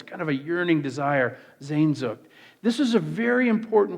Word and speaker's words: Sehnsucht: I've mispronounced this so many times. People have corrected me. Sehnsucht. Can we all say that? Sehnsucht.